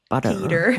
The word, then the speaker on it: butter: They don't say the T's if it's in the middle. What do you mean? It's more like a D.